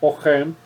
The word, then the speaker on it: Oresme: Também eu citei aqui o Nicolas Oren, né? Se escreve Nicolas Oresme, se pronuncia Nicolas Oren.